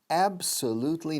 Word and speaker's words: absolutely: It's absolutely, y la B de absolutely casi suena como una P, suave.